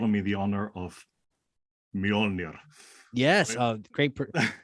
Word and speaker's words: Mjolnir: you have bestowed on me the honor of Mjolnir. Yes, great pronunciation.